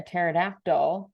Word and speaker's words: pterodactyl: Why can't you hear a pterodactyl going to the bathroom? Because their P is silent.